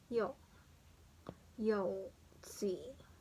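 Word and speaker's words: 腰椎: And then this one, the lumbar, Koshi, it's pronounced as Yo, Tsui.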